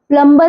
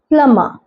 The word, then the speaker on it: plumber: इसे आप प्लम्बर नहीं पढ़ेंगे, यह है प्लम्बर, प्लम्बर या प्लम्बर, लेकिन हम B साइलेंट रखते हैं।